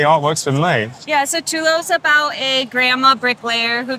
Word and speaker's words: Tulou: We're here at EGX, which is extremely busy today, with Angelina, who's going to talk us through Tulou. Yeah. That's how you pronounce it.